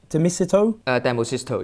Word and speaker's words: Demosisto: Is it Domicito? Demosisto, yeah, you pronounce well, yeah.